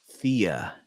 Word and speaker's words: Thea: say it with me the uh fear rhymes with Ria Thea hail Robin Ria okay okay